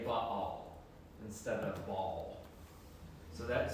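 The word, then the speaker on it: Baal: It's actually um separated by a Hebrew letter that you don't pronounce, but it separates the two syllables. So it's more correct to say but all instead of ball.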